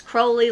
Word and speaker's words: Crowley: It's Crowley like holy.